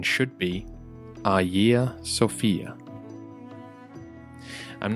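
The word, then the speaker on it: Hagia Sophia: the name looks like it should be said haia Sophia but we the soft G sound which you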